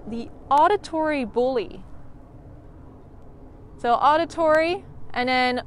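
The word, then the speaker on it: bullae: so auditory and then bully is spelled b-u-l-l-a-e i like that there's a bublia um so one bully is called a bulla but both of them together are called the auditory bully and this helps us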